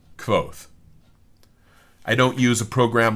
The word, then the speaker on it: Kvothe: How do I pronounce Kvothe? It's like Kvothe.